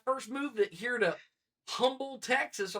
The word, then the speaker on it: Humble: And he's like, it's Humble. I was like, dude. I'm just saying, it spells like another word. H-U is the H is silent.